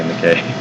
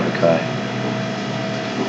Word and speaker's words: Mackay: in the future, and I'll make sure in person that I don't say McKay. Well, that's what the Australian town is called, so I should be able to remember it. And that's how it's pronounced.